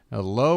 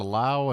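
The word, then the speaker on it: Lowe: uh right fielder joshow my friend Brandon Lao is pronounced like just like that they've got a low and they've got a laow and it's spelled the same way this one's in the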